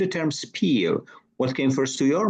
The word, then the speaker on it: Spiel: And you know, for me, I know the term which is pronounced Spiel, and this is from German and means game.